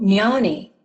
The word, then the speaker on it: jnani: He says it's pronounced like canyon. Hold on. Oh, jnani.